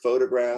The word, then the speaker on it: photograph: So here's the word photograph. Photograph. It's first syllable stress.